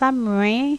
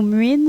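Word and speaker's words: Samhain: trop facile à prononcer ça s'écrit sa main mais ça se prononce à main ou mine sa mine ou des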